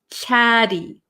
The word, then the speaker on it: chatty: vowel sounds so um in American English we're going to take these te's and we're going to make them a flap te chatty chatty chatty so it's going to sound like a kind of soft D sound chatty chatty okay grumpy